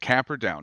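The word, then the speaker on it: Camperdown: if I say this the wrong way but camper down is that where you were born in New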